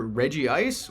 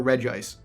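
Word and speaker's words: Regice: the next one well this one has a debated pronunciation it's either Reggie ice or reg ice I don't like him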